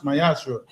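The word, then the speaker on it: מעשר: Malachi 3 8-10 means temp in Hebrew and pronounce myashra.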